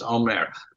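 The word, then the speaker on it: Aumerle: asking for a pronunciation QE is it it's Omare um okay um I'm Mark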